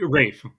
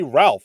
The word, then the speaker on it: Ralph: Rafe. It's It's pronounced Rafe. It's it's spelled Ralph, but it's pronounced Rafe. it's Rafe, right? It's Rafe. I Yeah. thought see, I heard some people call it say Ralph, and I was like,